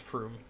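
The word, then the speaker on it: Frume: His name is Anthar Froom. Anthar Froom. Or From. From? But it's F-R-U-M-E, so I pronounce it as Froom.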